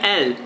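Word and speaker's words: אל: Em outras fontes eu descobri que se pronuncia El.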